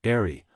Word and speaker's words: eri: a neck piece called an airy pronounced airy a long straight band